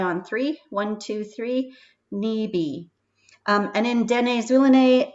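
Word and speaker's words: nibi: word water is pronounced knee b so instead of a p it's a b sound this time let's give it a try on three one two three knee b um and then deny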